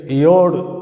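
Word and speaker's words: יוד: சாத்தானை அடையாளப்படுத்துகிற எழுத்தாக இருக்கிறது அடுத்த எழுத்து அடுத்த எழுத்தை யோடு அப்படின்னு உச்சரிக்கிறோம் பத்தாவது எழுத்தை யோ அப்படின்னு உச்சரிக்கிறோம் இந்த யோ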